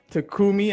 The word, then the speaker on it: Takumi: new aspiring agent and with me i have takumi i hope of pronouncing that right yeah i have takumi with